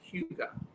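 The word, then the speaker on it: hygge: Apparently, it's pronounced Huga.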